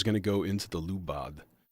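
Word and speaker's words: Lubadh: I'm going to put clouds, and then clouds is going to go into the lubad. I guess it's technically just pronounced lupa, which I don't know.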